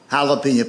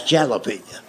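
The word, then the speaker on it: jalapeño: That's jalapeno." And I made the mistake of trying to explain that to him. I said, "I know it's a J, but it's pronounced with a H.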